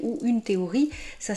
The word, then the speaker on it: théorie: donc, mais malgré tout, ça ne se prononce pas F, ça se prononce T.